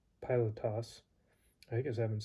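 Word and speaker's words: Πιλᾶτος: abraham dawid paulos petros pillock i must be tired that pilot toss i guess i haven't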